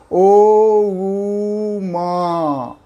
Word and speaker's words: ओम: ओम का उच्चारण करते समय 3 पार्ट बांटते हैं उसको। ओ ऊ मा।